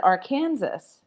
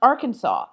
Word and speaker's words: Arkansas: I gave the answer, but I said, "Or Kansas."